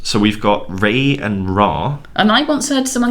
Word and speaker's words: Ra: because in the hieroglyphs, Ra is usually spelled out with the one consonant sign R, and the one consonant sign the ayin, which is pronounced as a short R sound in English. So I think as it is actually written in the hieroglyphs, I think that might be closer to the Egyptian.